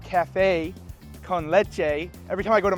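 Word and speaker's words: café con leche: Your cafe con leche, how do you pronounce it? Cafe con leche.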